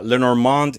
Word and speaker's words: Lenormand: Um, so Lenormand, is it Lenormand, Lenormand? There's a lot of ways to pronounce it. It's Tomato, tomato. yeah, Lenormand is the French way, and Mademoiselle Lenormand, Madame Lenormand.